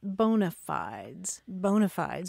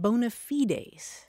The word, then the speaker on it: bona fides: I tell you, Marianne, I have always pronounced it bona fides.